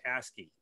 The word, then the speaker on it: ASGI: And it's an acronym, and yeah, but it's pronounced in English, it's pronounced ASCII.